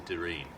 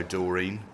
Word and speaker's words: Doreen: "Hello, Doreen," he said, in a quiet, almost sleepy voice. He pronounced her name as her mother did, with the accent on the first syllable.